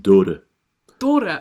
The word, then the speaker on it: Dhoore: second name is pronounced da da oh okay I can manage that I I will do better next time basically like the the H is barely spoken out so it's d h